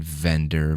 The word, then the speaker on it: vendor: practice our v because most people don't pronounce the v properly when you're learning English it's you have to practice like Valencia Vaughn vendor Victory vicariously but a